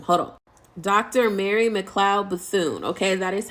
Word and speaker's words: Mary McLeod Bethune: Mary McLeod Bethune. Okay, that is how you pronounce her name.